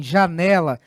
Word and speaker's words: janela: Quando ela vier na penúltima sílaba, como ocorre em janela, nós vamos dizer que esta é uma palavra paroxítona.